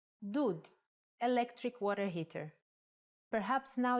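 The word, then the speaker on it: דוד: like ooh for example if we take the same letters from David and instead of we add shruk it will be dud electric water heater perhaps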